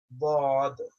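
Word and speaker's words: ض: Pronounced from the side of the tongue and the root of upper molars. So, if you stick your tongue out, the side of your tongue, either side, doesn't matter.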